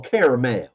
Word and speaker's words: Carmel: Carmel or Caramel? And I actually pronounce it as caramel.